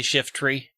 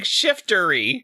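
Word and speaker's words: Shiftry: shift tree shift array what did i say it's two syllables not three shift tree shift you keep saying shiftery shiftery i'm pulling out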